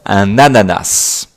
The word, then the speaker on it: ananas: Attention à la prononciation, un ananas.